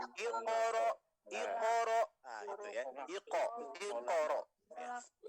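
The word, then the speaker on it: اقرأ: Ikro bismiro ya. Padahal itu huruf kok sukun, maka dibacanya iqoro.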